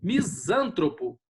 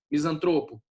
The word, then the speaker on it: misantropo: Depois, misântropo, né? É misântropo ou misantropo? Misantropo. E aí? Tá vendo que a pronúncia normalmente seja, ó, misântropo, né? Não, não é. É misantropo, tá certo? Depois, púdico ou pudico?